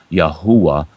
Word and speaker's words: Yahweh: you want to choose as I was told by a Hebrew scholar yahwa is the closest pronunciation to the tetr grittin but they took it